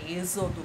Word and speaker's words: Êxodo: ou a eixo todo é Êxodo x com som de z Tá certo galerinha Então